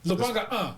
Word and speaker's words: Lubanga: We have Lubanga. How do you pronounce the second one? Yeah. Lubanga.